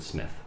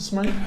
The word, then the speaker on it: Smyth: region of england um they do pronounce it smith rather than smith so so that was the uh yeah did you ever announce a smite no no no never